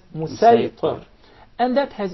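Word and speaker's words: مصيطر: with a specific dialect, the Sad will be deliberately pronounced as Sin. For example, when we say Musaytir, we'll recite it as Musaytir.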